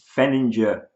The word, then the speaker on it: Denlinger: It's Denlinger. Soft G.